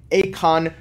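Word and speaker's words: Aikon: It's the Maurice Lacroix Acon Mercury, and I want to smack that. That's an Acon reference if you're familiar for it. It's actually pronounced Icon, I think.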